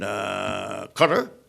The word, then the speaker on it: Qatar: some years now and Qatar that's the pronunciation of it by the way people say howdy but don't set thing Qatar or no it's a quarter like the insect repellent they're not that I